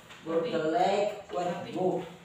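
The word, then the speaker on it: Burgerlijk Wetboek: Burgerlijk IJK dibaca 8. Wet Boek. Boy. Ini bacanya bu ini. Bu kan panjang. Burgerlijk Wet Boek.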